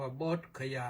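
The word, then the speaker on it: Bodh Gaya: ไป ถึง โบสคยา นะ อินเดีย ก็ ออก เสียง ว่า โบสคยา อ พุทธคยาน แต่ ก่อน อื่น ก็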